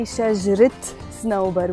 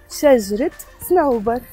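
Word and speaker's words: شجرة صنوبر: We pronounce the te marbuta at the end, which usually is not pronounced when the word is alone. So remember, every time you have two nouns together in Arabic, and the first noun is feminine, you end up pronouncing the te marbuta.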